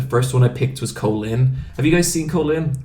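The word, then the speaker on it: Kolin: I thought her name was Colleen. Yeah. I don't know. They pronounce it Colin in the game.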